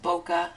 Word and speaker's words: bokeh: because i've heard so many different ways of pronouncing it but i'm pretty sure that boca is the proper one and for those of